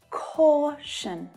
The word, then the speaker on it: caution: The syllable before TION is the stressed syllable. Action, action. Caution, caution.